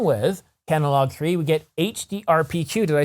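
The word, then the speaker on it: HDR PQ: impressive and along with catalog three we get hd rpq did i say it right this time yes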